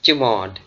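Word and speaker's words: chmod: you is termed as CH mod it's basically pronounced as chod and its full form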